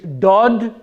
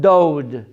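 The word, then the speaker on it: דוד: is correct don't f since there's no oh W sound in the Hebrew language the word here is Dodd instead of dode so how do you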